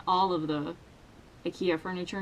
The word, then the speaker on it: IKEA: You should probably also know how IKEA is pronounced in Swedish, and it's pronounced IKEA. IKEA, not IKEA.